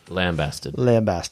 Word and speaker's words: lambasted: And was kind of roundly, is it lambasted? Lambasted. Lambasted. The emphasis on the first syllable.